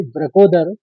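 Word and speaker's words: वृकोदर: इस श्लोक का अंतिम शब्द है ब्रकोदरा ब्रकोदर बोलते हैं दो शब्द मिलके बना है वृक और उदर उदर माने पेट होता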